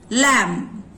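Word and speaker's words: lamb: नाउ नीचे कोम, लैम, थम। बी का साउंड ब साइलेंट है। कोम सुनाई पड़ता है, ब नहीं है। लैम, B sound is silent there.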